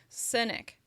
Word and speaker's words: scenic: Cynic is a little more closed, and it has to do with your mouth is actually more relaxed, whereas with scenic, your mouth moves more. Scenic.